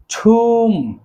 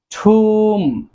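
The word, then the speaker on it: tomb: দেন রয়েছে ছুম, ছুম অর্থ সমাধি। এই সমাধিকে বলা হয় ছুম। শেষে যে বিটি রয়েছে, এই বিটি অবশ্যই সাইলেন্ট থাকবে, আমরা বি এর উচ্চারণ করব না, উচ্চারণ হবে ছুম।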